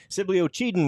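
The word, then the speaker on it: Sibley-Ocheyedan: because we're so impressed we know how to say the name of the town now Sibly was easy it was that oen thing that took a second you got it they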